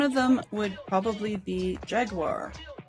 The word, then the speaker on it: Jaguar: One of them would probably be Jaguar, or as the UK people pronounce it, Jaguar.